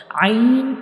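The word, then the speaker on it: ع: Ain is pronounced from the middle part of the throat, and ghain is pronounced from the upper part of the throat.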